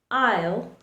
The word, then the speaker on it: isle: It remains silent in words like island, isle, or debris.